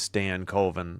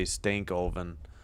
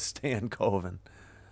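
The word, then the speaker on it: Stankoven: Yeah, it is Stan Coven. I always want to say Stankovven, but it's Stan Coven.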